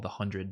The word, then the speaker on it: The 100: um which I was told was actually called The Hundred before I was calling it The 100 but apparently it's just actually pronounced the hundred what else is on there